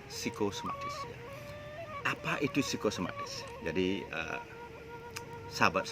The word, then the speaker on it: psikosomatis: Tulisannya berisi PSI, tapi bacanya psikosomatis.